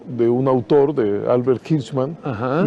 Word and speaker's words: Hirschman: Ahora se escribe como suena, es H-I-R-S-H-M-A-N. Albert O. Hirschman.